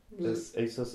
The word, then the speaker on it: ASUS: that Asus sorry but ASUS ASUS I don't know I hear two different pronunciations I think it's actually supposed to be pronounced Asus but they're working now to